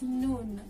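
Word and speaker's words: نون: i in arabic that's noon the noun is pronounced just like the english n pretty easy right it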